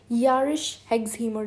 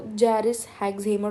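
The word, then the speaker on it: Jarisch-Herxheimer: Usually लोग इसको जैरिस हेक्सहीमर reaction बोलते हैं, लेकिन इसकी करेक्ट प्रोनाउंसिएशन जो मैंने अभी की है वो है।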